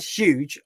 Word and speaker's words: huge: conversation, but the word huge, I kind of pronounce the U, so I go huge. She pronounces it like it's got two O's. She goes huge.